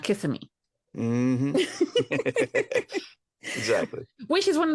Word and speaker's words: Kissimmee: It's Kissimmee, not Kissimmee.